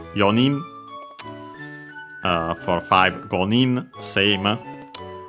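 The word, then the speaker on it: 四人: Uh so yeah we use yon instead but in this case actually without the uh final n usually present we use only y uh so be careful the accent is still on the knee yin uh for five gin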